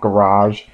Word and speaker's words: garage: That's actually how we pronounce garage here in Australia. We pronounce it as garage, not garage.